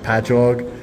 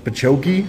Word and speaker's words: Patchogue: that we have, it'll be like Patchogue, and they'll be like Pachoki, and I'm like, no, it's just ingrained into my brain that I know how to say them.